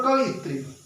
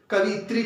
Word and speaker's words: कवयित्री: ठीक है ना, क्योंकि उच्चारण में प्राय शुद्धियां होती हैं। कवित्री, कवित्री हम लोग बोल देते हैं, तो प्राय उसको पहचानने में भी वही हम कवित्री पहचानने लगते हैं, जबकि होता क्या है, कवि का स्त्रीलिंग क्या है?